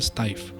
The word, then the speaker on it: Steiff: de la fábrica Steiff, creo que se pronuncia Steiff, que son los fabricantes del Teddy Bear.